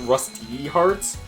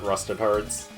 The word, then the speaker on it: Rusty Hearts: call it Rusty Hearts, but they never pronounced the E part of it in any of the trailers or promotional stuff. So everyone just calls it Rusted Hearts. Everyone knows it as Rusted Hearts, but it's Rusty Hearts.